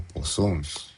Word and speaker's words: Poisson: Sino que este man es francés, entonces por eso se pronuncia como plazo o poisson, un poquito raro.